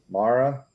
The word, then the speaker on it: Moira: least we have mistress Mara yes good job yes it's spelled mo mo Moira but it's pronounced Mara yep that's me uh